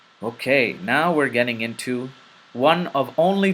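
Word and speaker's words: و: We. We. We. It is similar to the letter W in the English language, but not similar to the letter V.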